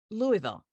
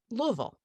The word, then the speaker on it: Louisville: And someone, the narrator, pronounced the name of the city as Louisville. And I kind of cringed and went, no, if you're from there, it's Louisville. It's like 2.5 syllables.